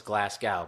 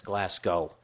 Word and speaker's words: Glasgow: then I'm at Glasgow I thought was Glasgow but it's Glasgow G o w s it said like slow Glasgow Scotland you knows